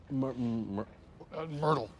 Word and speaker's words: Myrtle: Myrtle. It's pronounced like turtle or girdle. No, Myrtle.